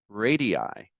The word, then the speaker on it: radii: It was radii. which is the plural of radius. And radii is actually, I can tell you because I confirmed it today, is basically the same pronunciation in both American and British English.